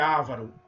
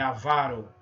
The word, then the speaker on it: avaro: Não é ávaro, é avaro.